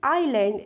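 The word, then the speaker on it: island: ठीक है, IS यानी इसमें S साइलेंट होता है, इसे सिर्फ आइलैंड पढ़ा जाता है।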